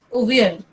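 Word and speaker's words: Avial: He named it Aval, but they pronounce it as Uvial.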